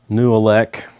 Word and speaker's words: Nooelec: This is a uh new elec.